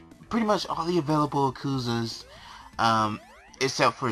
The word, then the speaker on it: Yakuza: Oh, speaking of Yakuza, or Yakuza, or however you want to pronounce it, I pronounce it as Yakuza, even though it's not. It's Yakuza.